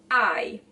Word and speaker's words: hai: So even though you see it with an H, there's not pronunciation of an H. There's not aspiration of any kind of sound. Io ho. Tu hai.